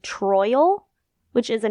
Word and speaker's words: Troyal: this his name is troyal like Royal with a t troyal which is a name